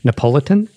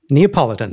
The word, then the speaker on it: Neapolitan: than Napo ne how do you say this napolitan napolitan style pizza ne ne Neapolitan that's the one yeah yeah yeah exactly so